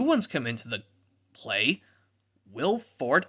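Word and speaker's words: Will Forte: come into the play will fort i think well it's a silent e but he's still called willy or will fort for sure for short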